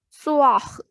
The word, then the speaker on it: soir: Second is OI. It has sound oa. Soir means evening.